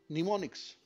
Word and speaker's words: mnemonic: they are called mnemonics mnemonic m is silent here and when you use